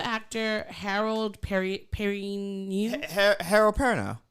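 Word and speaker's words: Perrineau: you know the actor Harold per Perry Harold parano how do you pronounce his last name Harold perano parano Paran now yeah Paran now Paran now I'm not going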